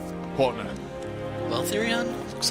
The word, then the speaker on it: Therion: Okay, Therion is how it's pronounced. Partner. Well, Therion, looks like you and I are officially partners in crime.